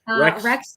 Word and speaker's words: Rex: And Tiffany, how do you pronounce his name? Because I always mess it up. Rex Heuermann.